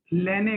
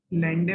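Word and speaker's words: Landé: Born लेने equation हम करेंगे, डी इसमें साइलेंट है, लेंडे मत पढ़ लेना, बॉर्न लेने इक्वेशन।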